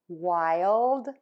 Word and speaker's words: wild: Then touch the tip of your tongue to the back of your top front teeth of that L. Ooh. And then pull it down D, so that that air can puff out for the D.